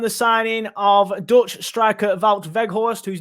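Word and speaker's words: Wout Weghorst: have just confirmed the signing of dutch striker vault veghorst whose name i have now learned how to pronounce um after getting it wrong and incredibly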